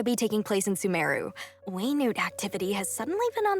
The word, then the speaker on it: Wenut: it's pronounced Wow. Waynute. I've been That's saying quite the Wenut.